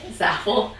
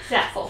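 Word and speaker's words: Zafel: is from zapple zaf is that how you pronounce it yeah z a f e l Zed Z SH Zaff Zaff so not from Amazon but it was still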